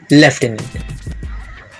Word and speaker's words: lieutenant: ये वर्ड है लेफ्टिनेंट। लेफ्टिनेंट आपने कई बार मूवीज में सुना होगा, लेकिन क्या आपको इसका स्पेलिंग पता है?